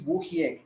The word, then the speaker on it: Wojciech: I think it's Wokiek. The J is Ha or something, right? It's supposed to be pronounced Ha. Yeah, Woy.